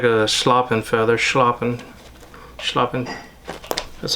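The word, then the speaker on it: schlappen: What I'm looking for is just something back here that's super webby, almost like a sloppin feather.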